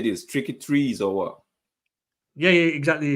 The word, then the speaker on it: Tricky Trees: wolves1 um my brother man please help me pronounce this how do you say this tricky trees or what yeah yeah exactly you got it